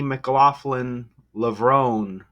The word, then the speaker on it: McLaughlin-Levrone: Let's learn how to pronounce the name of this American hurdler. She's brilliant. Anyhow, Sydney, you probably knew that. McLaughlin-Levrone.